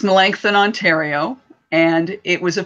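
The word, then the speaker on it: Melancthon: it's different it's a different name it is melanchthon but I think I got it now and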